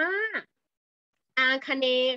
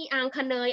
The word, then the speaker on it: อาคเนย์: ทิศ นี้ นะ คะ เรา อ่าน ว่า อาคเนย์ ค่ะ ไม่ มี อัง คะ เนย อะไร ทั้ง นั้น นะ คะ ลูก โอเค